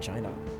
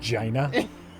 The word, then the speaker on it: Jana: shine off je Jana who named the kid China actually it's pronounced Jana Jana I like this